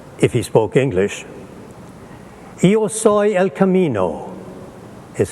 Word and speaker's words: El Camino: would have said if he spoke English ioso El Camino is how you say it in Spanish now